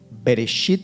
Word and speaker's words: Bereshit: Ese mismo verso en hebreo se pronuncia así: Bereshit bara Elohim et hashamayim vet haaretz, en donde